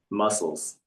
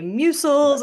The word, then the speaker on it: MUSECLS: I'm so happy it's muscles because I'm like, would we say mucil?